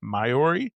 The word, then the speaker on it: Maiori: So there's 2 right beside each other, Minori and Maiori, or Majori, the way that it's spelled.